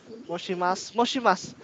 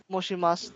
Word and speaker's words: 申します: Bigkasan natin yung shi doon, sir. Hindi po moshi yun, sir. Moshi po. Moshi. SHI po yan, no?